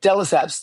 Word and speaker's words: de Lesseps: People try to go, they can't say delis. But if you just say delisps like x, are you used to people mispronouncing I've mispronounced your name so many times.